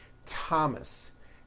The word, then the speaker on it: Thomas: like to point out although these next words and names are spelled with a th they are pronounced as if they were spelled with a normal t t like that and